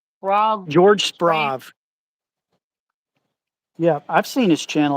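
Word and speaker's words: Sprave: Is it I don't how to pronounce the guy's name. Is it Sprag? George Sprav.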